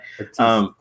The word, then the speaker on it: artiste: Since he's French, let's say it like that. Artiste. Yeah, artiste. But I think that his heart is in the right place, right?